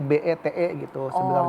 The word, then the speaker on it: BT: Jadi saya membuatnya Bintang Timur disingkat menjadi BT, tetapi sebenarnya pengucapannya adalah "Be Te" .